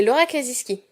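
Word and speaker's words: Laura Kasischke: me manque juste justin cet auteur c'est lörrach les skis et oui ça se prononce comme ça j'ai vérifié je vais vous parler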